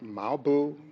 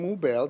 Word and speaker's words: Moubel: I'm saying that because sometimes some people would mispronounce my name they would say things like marble more I'm like is that me all right so mobile that's my name I